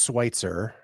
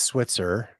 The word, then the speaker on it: Schweitzer: So my last name is Schweitzer. Mm-hmm. Everybody mispronounces it as Switzer. Oh. And I say it's like Dr. Albert Schweitzer.